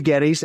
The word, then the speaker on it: Geddes: uh know who this is this is Gettys and I hopefully I pronounced that right sure did yeah rock and